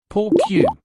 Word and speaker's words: por qué: That is por Q. This word seems hard to pronounce. It sounds like por. Q, basically, it is a compound Spanish word which is made of two words.